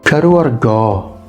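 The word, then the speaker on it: cadw argof: Kadu argo. You'll notice that the F there is silent at the end.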